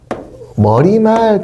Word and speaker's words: 머리말: 우리는 발음이 머릿말이라고 하지 않아요. 발음은 분명히 얘는 머리말 그래요.